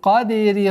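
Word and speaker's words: القدر: Лайлатуль кадри хайрум мин альфи шахр. Лайлатуль. Согласовки дамма. Уходим на лям. Лайлатуль кадри. Каф твердый. Даль калькаля. Кадри. Ри.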